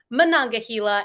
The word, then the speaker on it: Monongahela: of the alleghenyahila mananga Gila that's how you say it Monongahela and what Third River